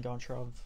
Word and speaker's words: Goncharov: It's a book called Oblomov by Ivan Goncharov or Ivan Goncharov, the Russian pronunciation.